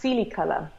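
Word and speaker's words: coelicolor: materials design and and at different scales it's pronounced Sealy color and Sealy color means sky-blue this organism is called progam streptomyces Sealy color and it is you know this beautiful blue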